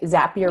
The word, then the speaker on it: Zapier: you pronounced it right zap your rhymes with happier you like to say zap your makes you happier and so I lead communications at zapier zapier does workflow automation so